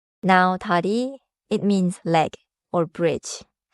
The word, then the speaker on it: 다리: Now, dari, it means leg or bridge. Listen for the quick riel in the middle. Dari.